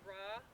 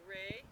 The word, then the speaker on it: Ra: in the center okay so that's raw or Ray you can pronounce it whichever way okay what else do